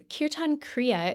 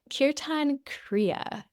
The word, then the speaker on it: Kirtan Kriya: So Kirtan Kriya is a form of meditation that has an abundant amount of literature associated with it.